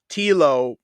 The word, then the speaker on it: Telo: So I heard this rumor about Telo rhyming with Hilo, and I wanted to know, because a couple Tank and me talked about it.